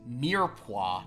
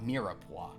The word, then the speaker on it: mirepoix: Also, it's mirepoix, not mirepoix. All your pressing questions answered. E is just like you just breeze right past it. Well, the French hate to say a second E. The mirepoix.